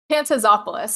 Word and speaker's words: Pantazopoulos: that last name Pantop hey please help me pronounce it again pantazopoulos it was good Panopoulos oh so close folks